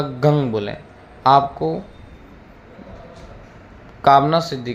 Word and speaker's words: गं: इस मंत्र के लिए आपको गंग बोलना है, ये विशेष ध्यान रहे। मैं आपको बार बार निवेदन कर रहा हूँ, ओम गंग गणपतिये नमः। इस मंत्र का ही जाप करना है और इसी उच्चारण में बोलना है।